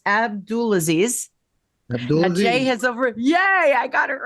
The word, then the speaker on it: Abdulaziz: So it's Abdulaziz.